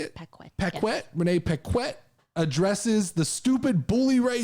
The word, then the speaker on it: Renee Paquette: yeah uh last story of the day here renee peck quit is that how you say it renee paquette addresses the stupid bully ray situation says bully